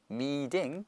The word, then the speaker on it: meeting: 맨처음 me팅이 아니고 뭐예요? meing 그렇죠? 모음과 모음 사이 t가 껴 있으니까 르 발음데서 meing meeting the needs of